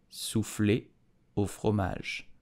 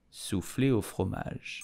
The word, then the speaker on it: soufflé au fromage: How do you pronounce it in French? You will say soufflé au fromage. Soufflé au fromage. Soufflé au fromage. Soufflé au fromage.